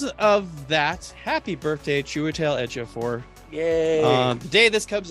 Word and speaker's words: Ejiofor: What is the theme of, excuse me, sir, how do you pronounce that again? It's Chichilio Ejiofor.